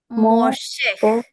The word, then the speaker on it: Moshe: But underneath there is a seagull or three dots that means a a short right. So Moshe Moshe Moshe Moshe Moshe means Moses.